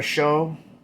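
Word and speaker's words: Shough: Sir Tyler Shove, S-H-O-U-G-H, that's how to pronounce his name, but forget me wrong.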